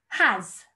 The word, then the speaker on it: has: Has. Has. Brilliant. As in, year one has lots of amazing children. So has, again, you can hear that z sound at the end, but we've got to